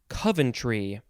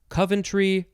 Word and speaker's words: Coventry: i take that back honk honk it is coventry coventry or coventry capital c-o-v-e-n-t-r-y noun from 1765 a